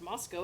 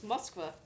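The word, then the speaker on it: Москва: Well, sometimes we screw with them, like Moscow is not pronounced Moscow, it's Moskva.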